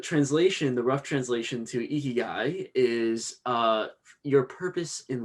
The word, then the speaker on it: ikigai: japanese word i think it was called ikagi right guy ikigai ikigai yeah there was no way i was getting that thank you and um the the translation the rough translation to ikigai is uh your purpose